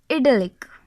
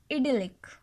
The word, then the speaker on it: idyllic: The next word is idyllic. The pronunciation is idyllic.